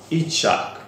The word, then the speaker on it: Yitzhak: platforms as well, that this guy called Amnon Yitzhak. Okay, so there's the pronunciation in the name.